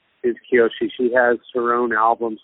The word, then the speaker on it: Kiyoshi: Is that how you pronounce her name? Is she playing with you? Yeah, Kiyoshi.